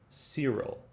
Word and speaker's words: Cyril: In group B, we have Cedric, which is pronounced with a soft C. In other words, it's pronounced like an S. So, Cedric, Cyril, Cecil.